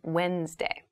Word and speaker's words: Wednesday: the week but keep in mind this is pronounced wednesday there's a d there but we don't say wednesday we say wednesday wednesday the 18th wednesday the 18th wednesday the